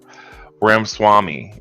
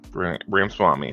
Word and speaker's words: Ramaswamy: I can never pronounce it. I know who he is. Anyways, Ramaswamy Swami or something. Ramaswamy. Yeah, that's his name. Ramaswamy.